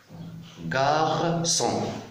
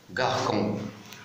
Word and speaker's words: garçon: Parce que la lettre C est suivie par la lettre O pour éviter de dire garcon. Alors pour éviter de dire garcon, je mets la CD pour prononcer C. Garçon.